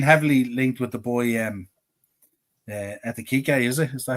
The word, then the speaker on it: Ekitike: It's a tough justification, which means and then we've been heavily linked with the boy Ekitike, is it? Is that how you pronounce it? Hugo Ekitike.